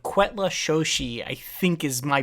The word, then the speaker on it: Cuetlaxochitl: from, and it's called Quetla Shoshi. I think is my butchered pronunciation of that. Sure. Cuetlaxochitl. Quetla Shoshi. I think Quetla Shoshi is roughly how you pronounce it, but that's the push